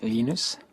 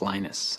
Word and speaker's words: Linus: I speak Swedish it's lenus when I speak Finnish it's lenus when I speak English it's lonus and I really don't care how people pronounce my name but Linux is always